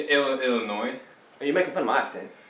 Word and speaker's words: Illinois: okay uh no yeah i mispronounced illinois as illinois and jack uh picked up on it and just ran with it and did that a little bit yeah no it's a silence yeah yeah illinois are you making fun